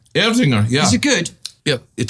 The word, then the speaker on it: Erdinger: I can't pronounce it. Erdinger? Erdinger, yeah.